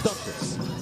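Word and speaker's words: Dantas: And before we get everyone saying it's Duntus, we have Holly Rowe, who gets the pronunciations directly from the player. So yes, it's Duntus.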